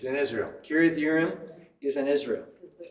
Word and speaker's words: Kiriath Jearim: Kiriath Yearim. So it'd be, in English, it'd be Jerim, but in Hebrew, you don't pronounce it as a J. It'd be a yeah.